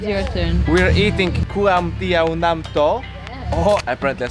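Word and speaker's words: ก๋วยเตี๋ยวน้ำตก: We're eating kuam tiao nam to.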